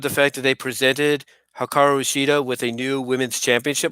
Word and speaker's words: Hikaru Shida: Okay, so the next match is Hikaru Shida, pronounced it there right.